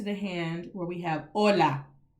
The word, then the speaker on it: hola: where we have hola please do not walk around here saying hola and it's all open and oh oh oh do you hear the difference between oh versus o hola hola that simple thing hola versus hola hola hola amigo hol